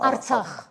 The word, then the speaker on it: Artsakh: vous l'appelez comme ça, vous prononcez Atrax. Hein, Artsakh.